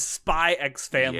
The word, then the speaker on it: Spy x Family: season and that is spy x family and yes i'm going to pronounce the x all